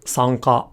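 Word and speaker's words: 参加: But in a word like sanka or participate, it's said again here at the velum, and this is because the following sound, K, is articulated at the velum.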